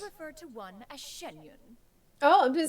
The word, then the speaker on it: Xianyun: be sure to refer ref to one as shenyun oh I've been saying it wrong shenyun Shen